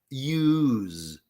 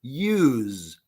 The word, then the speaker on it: use: voice Z we say use I know it's spelled with s it is spelled with s we pronounce z use and this is used